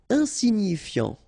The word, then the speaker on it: insignifiant: Insignifiant. Okay, final T not pronounced, so you get this I-A-N, yan, so F before, fiant. Insigni, okay, remember, G-N-I, ni, ni, insignifiant.